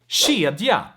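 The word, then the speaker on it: kedja: one let's talk about the k sound in front of soft vowels right and i have a few examples here with each vowel that's why i want to talk about this letter separately so we have shia shia which means chain we have shika shika which means basically to look to um to pier and then we have shurika shirika which means church we have shalik shah which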